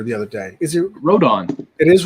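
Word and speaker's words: Rodón: the no hitter the other day is it rodon it is rodon yeah carlos rodon i mean you don't know how to pronounce his name really michael who's the yankee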